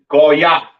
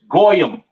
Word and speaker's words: Goya: all right Gentile right pronounced in the Hebrew Goya Goya the yish man says goam or or whatever the hell he says that's not the proper pronunciation for the word Gentile in Hebrew it is Goya all right now once